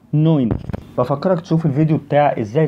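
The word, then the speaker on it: neun: رقم 9 التركيبه دي بتتنطق اوي، يبقى دي نوين، اوعى تقول ناين ناين يعني لا.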